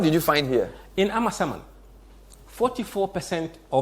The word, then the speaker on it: Amasaman: I like Amasaman for a reason, because I got the pronunciation of the name correct last week. So it's Amasaman.